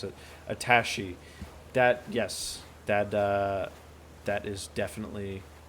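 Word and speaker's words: attaché: Somebody corrected how to pronounce it. Attache.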